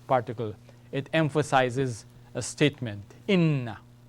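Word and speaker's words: إنّ: And if we were to change the vowel from fatha to kasra, it gives us another word, all right? Inna, like this.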